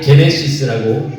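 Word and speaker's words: Γένεσις: 헬라어로는 비슷하게 게네시스라고 우리가 발음을 합니다.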